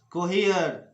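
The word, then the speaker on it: cohere: जब ई के बाद आर लगा हो और उसके बाद फिर ई आता हो, यानी ई और उसके बाद आर और फिर से ई आ जाता हो, तो ऐसी स्थिति में ई का उच्चारण होता है। जैसे हियर हियर स्फीयर कोहियर कोहियर और एटमॉस्फियर, तो ये वाली उच्चारण होना चाहिए।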